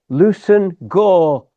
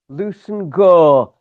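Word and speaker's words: Leveson-Gower: They altered the pronunciation of their surname to Lucen Gore. Lucen Gore.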